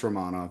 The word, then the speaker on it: Romanov: And then they have they have Alexander Romanov as well or Romanov I keep but Roman yeah it's pronounced Romanov but and Siroken Sroen there's enough